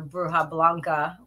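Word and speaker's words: bruja blanca: a white witch or bruha Blanca is really how they say it which is a white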